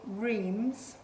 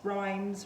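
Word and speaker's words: Reims: pair of candlestick holders they're by rheems i think that's how you pronounce it r e i m s rhymes rhemes they are vintage from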